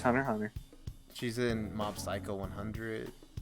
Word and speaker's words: Hunter x Hunter: I think the X should still be pronounced. No, it's Hunter x Hunter.